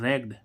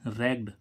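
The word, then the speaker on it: ragged: ठीक है गाइस तो एक और होता है रैग्ड आर A double G डी रेग्ड रेग्ड मी्स होते टुकड़े-टुकड़े कर दिया तो आई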